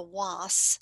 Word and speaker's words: was: This one's called the was, like spelled like was, W-A-S.